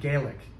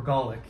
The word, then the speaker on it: Gaelic: remained uh continued to speak Gaelic right or Golic I think is the correct pronunciation they continue to speak